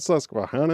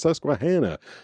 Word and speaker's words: Susquehanna: cuz everyone be like it's not Susquehanna it's Susquehanna.